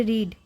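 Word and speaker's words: read: लेकिन रीड का दूसरा रूप और तीसरा रूप उच्चारण बदलें जाता है। तो यह क्या है? क्या इसे पढ़ा गया है? यहाँ मैं रेड पढूंगा।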